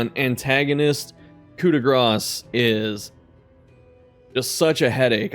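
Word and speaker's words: coup de grâce: I was corrected by a French speaker, and they said it was coup de grace.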